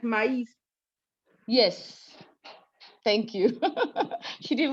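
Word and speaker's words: maïs: So she already said maize. Normally we have MAI that says me. But when you have the tremor on it, you can't say me anymore. You're gonna say maize.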